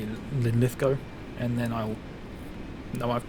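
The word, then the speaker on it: Linlithgow: lovely little commu route perfect there except ly linth go where the W is silent so it's just like go not gal that makes sense oh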